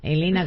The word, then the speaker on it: Helena: Elena con h. Me encanta Elena con h, además. Eh, gracias, Elena con h.